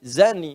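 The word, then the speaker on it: زاني: Zani nih. Zani, bezina laki-laki. Awas hati-hati. Hati-hati. Zani. Dza. Bukan dza. Ada da, ada dza ada za.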